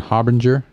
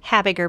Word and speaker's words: Habiger: We've been talking to Habinger. Did I pronounce that right? Habiger, but that's okay. Habiger.